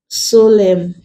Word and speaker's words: solemn: him where it's like solemn words like column condemn damn awesome in this words the end is not pronounced the N is silent so when letter A